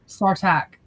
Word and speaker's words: Sartak: But then there's also Nesrin, and I can't pronounce his name that starts with an S. Oh, Sartak.